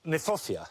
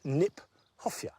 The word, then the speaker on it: Kniphofia: I like the fact that Kniphofia, which is an awkward word, not an easy word to say, in fact is mispronounced. We should pronounce it Kniphofia, because it was named by Johann Hieronymus Knipp.